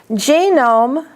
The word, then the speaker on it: genome: Genome, but genomic. So GE is the accent in the first word, and NOM is the accent in the second word.